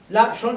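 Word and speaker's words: לשון: Et le Nun, la Shon, j'ai 2 syllabes.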